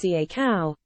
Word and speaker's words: cacao: Liam told them that, "The big thing with cacao, pronounced ca-cow, is to set your intention for the day from your heart center."